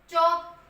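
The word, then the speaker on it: chalk: क्या हो गया, टॉक, चौक, क्या होता है, चौक, L तो साइलेंट रहता है यहाँ पे, जब L और K साथ में आए, L हमेशा साइलेंट रहेगा, L K जब भी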